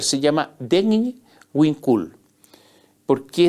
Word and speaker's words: Degn Winkul: Hay una asociación indígena que se llama, es difícil de pronunciar, se llama Degn Winkul. ¿Por qué es difícil de pronunciar? Porque se escribe D-H-E-G-N, Degn Winkul.